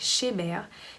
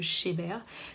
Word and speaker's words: Chebhair: jamais entendu parler de chez bear donc ça s'écrit chez b sauf qu'on me retire le et on met h ah oui quand-même cheveux en anglais donc j'aime bien le